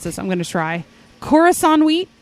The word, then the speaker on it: Khorasan: I'm not sure how to pronounce this. I'm going to try. Khorasan wheat. It's Khorasan.